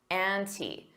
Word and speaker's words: ante: need to up the anti notice that pronunciation an anti and you can pronounce the as the with a long e because anti starts with a vowel native speakers don't always